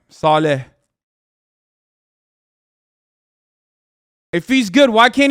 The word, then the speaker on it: Saleh: hurt you more than say salah hurts the jets i can't say his name right saleh if he's good why